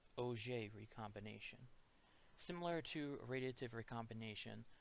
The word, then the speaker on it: Auger: of a combination although spelled like auger it's pronounced oj recombination similar to radiative recombination the electron drops